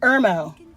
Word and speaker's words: Irmo: do you say the name of your hometown Irmo hermo South Carolina mhm and there were musicians